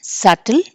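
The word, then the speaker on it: subtle: ఎస్ యు బి టి ఎల్ ఇన్ ఉన్నా కూడా సటిల్ డి ఈ బి T debt D ఓ యు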